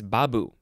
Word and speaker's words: babu: or is it uh it's babu the emphasis is on the first syllable to a an indian